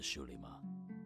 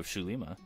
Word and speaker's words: Xulima: creator's well I guess instead of zoo which is well thought they'd be pronounced it's shoo-shoo Lima but I think that's it for episode 0 shoe Lima pretty sure starts now